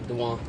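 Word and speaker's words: Dejuan: Uh, Dwan. Spell it.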